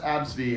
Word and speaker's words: Abcde: Yeah, their mother named her ABCDE and it's pronounced Absidy, and the That's person so at good.